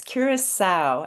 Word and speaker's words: Curaçao: which means welcome and the right pronunciation for curo. A lot of people get stuck on this one. It's curisa as you see here.